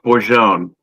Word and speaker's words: Bourgogne: And I think that's actually pronounced Bourgogne. It's not a Dutch beer.